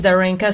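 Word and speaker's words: Darinka: My first name is Darena spelled D A R I N K A and my last name is.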